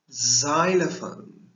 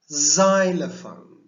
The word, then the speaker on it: xylophone: in this case p1 listen to this word xylophone it sounds more like yes so i want us to be careful when we pronounce this word xylophone do you want to try and say xylophone